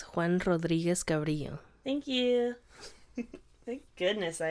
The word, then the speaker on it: Juan Rodriguez Cabrillo: It's Juan Rodriguez Cabrillo.